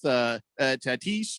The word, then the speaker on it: Tatis: So he starts with Tatis Jr.